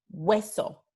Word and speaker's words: hueso: Otro ejemplo, hueso. So, de nuevo tenemos este we al principio de la sílaba entonces no va a